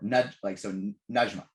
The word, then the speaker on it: Najma: It's just getting me more Najma is how you pronounce that.